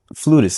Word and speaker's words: flutist: about how, you know, flutist, is that how you say it? Like like is that the right way to say it? Some people say flautist, and I'm like, you're just trying to be bougie. There is I don't play on a flaut.